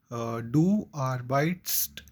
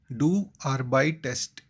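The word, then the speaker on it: du arbeitest: to add e, because we will have a difficult time pronouncing do arbeitst. So which is not correct, which is also harder to pronounce. So we add an e in front of the st. So we say do arbeitest, which is a little easier to pronounce.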